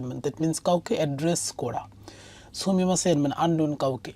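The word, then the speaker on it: 氷: তো সেই ক্ষেত্রে বলছে যে নানি ও কুদাসাই, মানে এই যে মানে আন্ডারস্কোরের উপরে এটা কি দেওয়া আছে, এই কাঞ্জিটা রিড করতে বলা হয়েছে।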